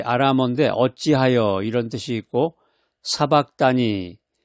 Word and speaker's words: 사박다니: 라마 이제 아라데 어찌하여 이런 뜻이 있고 사박다니 이게 이제 사바타니 이렇게 발음들도 되는데 사박단이라는 것은 이제 아람으로 나를 버리셨나이까 이런 의미가 있습니다.